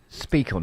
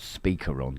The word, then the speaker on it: Speak On: Speak on. Not sorry, not Speaker On. Speak on.